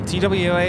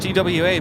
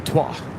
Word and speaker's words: TWA: far left yeah tww is pronounced tww because it is an acronym trans world yeah so no you would not say twah on the pawn Airways